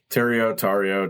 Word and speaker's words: Tario: Thanks so much for being with us here, Sean, and I hope I pronounced your last name correctly. Tario, tomato.